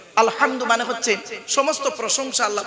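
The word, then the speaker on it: الحمد: আলহামদুলিল্লাহি রাব্বিল আলামিন আলহামদু আলহামদু এই গলার ভেতর থেকে হেটা উচ্চারণ করবেন আলহামদু মানে হচ্ছে সমস্ত প্রশংসা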